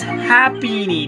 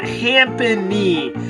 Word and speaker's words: Happiny: It's Happiny, not Hampany.